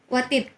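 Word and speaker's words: وتد: Jadi bacanya al-wat, wa-nya itu harus maftuh. Wa yajuzu fit ta'i al-fathu wal kasru. Bisa kita baca watad, bisa kita baca watid.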